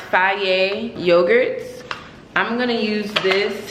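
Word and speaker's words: Fage: so I got these I'll be saying face but it's pronounced Faye yogurts I'm gonna use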